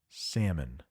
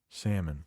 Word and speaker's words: salmon: be a saltwater fish we got the rare silent l in that word it is pronounced salmon salmon am I getting a